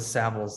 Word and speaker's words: Savills: so i i like to say travels with saviles that's a that's a good way to remember the pronunciation of the brand and i'm proud to